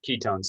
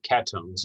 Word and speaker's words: ketones: We're going to be looking at aldehydes, ketones, and even though ketones is pronounced ketones instead of ketones, you don't throw a Y in there like K-E-Y, no.